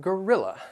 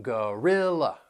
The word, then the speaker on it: gorilla: we have Gorilla and gorilla these words have three syllables that that first and third syllable you'll hear that schwas sound and the stress is on the second syllable gorilla gorilla and this gorilla